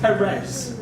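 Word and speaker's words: Pérez: Marv Wolfman, drawn by George Perez. One of my favorite. Why is it Perez? Because the accent is on the first syllable.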